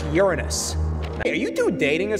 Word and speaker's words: Uranus: them shut up damos and no it's not pronounced your anus it's pronounced Uranus are you two dating or something us no